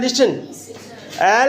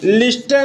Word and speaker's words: listen: LISTEN इसका pronunciation जो होता है वो होता है लिसन, लेकिन जो इसका स्पेलिंग होता है LISTEN। इसको कभी भी लिस्टन नहीं बोलोगे, लिस्टन नहीं बोलोगे। ठीक है, क्या नहीं बोलोगे? लिस्टन नहीं बोलोगे, लिसन बोलोगे।